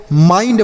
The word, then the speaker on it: mind: इसे आपको माइंड पढ़ना है। क्यों पढ़ना है? क्योंकि आई के बाद ND है, आई के बाद ND है, आई के बाद ND है तो आई का उच्चारण आई होगा।